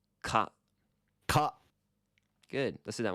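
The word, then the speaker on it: 蚊: It's ka. Ka. Good. Let's do that one more time. Ka. Ka. So here is a 4-syllable word that not only uses consonant vowel sequence, but it repeats too.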